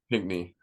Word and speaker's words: Pinckney: Pinckney.